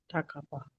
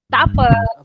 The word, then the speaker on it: tak apa: How to say the informal version? Tak apa. Tak apa. Okay, so that's how you pronounce it.